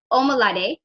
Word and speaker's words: Omolade: So Omalade, Yes. that's how you Omolade. pronounce her name, Omolade William.